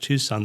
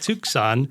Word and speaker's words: Tucson: So that's why we spell it Tucson, but now we say Tucson.